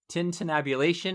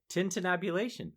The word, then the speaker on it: tintinnabulation: And so she calls this one the Tintinnabulation of the Bells. Did I say that right? Unusually for you, yes. Okay. Tintinnabulation.